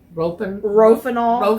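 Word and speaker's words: Rohypnol: They reported that he drank champagne with a prescription, and I can never pronounce it. Rofinol, I believe is how you pronounce it.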